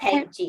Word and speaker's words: tangy: Tangy or tangy? Tangy. Okay, tangy. Tangy. Okay, because the G says the J sound.